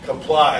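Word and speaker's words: Qapla': But you will find kapla as a hello.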